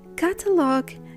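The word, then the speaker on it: catalogue: In the words catalog and colleague, the U after G at the end of a word becomes silent, and the whole combination G-U-E turns to a hard G sound.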